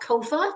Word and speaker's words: COFAR: It's called COFAR, just like SOFA.